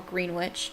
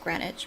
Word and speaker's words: Greenwich: Henry Samuel Tabram, 6 River Terrace, East Greenwich, or Greenwich. I think it's pronounced Greenwich, but it looks like Greenwich.